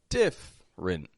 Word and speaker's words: different: F to the r I'm not going diff but different different so that middle e totally omit that take it out and it's just a quick two syllable sounding word it's spelled as if there are three but it's only got two different let's see another